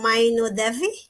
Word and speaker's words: Mainu Devi: duology hello yesterday can i ask how to pronounce correctly your name it is dr mainu devi yes dr mainu debi ah that's right so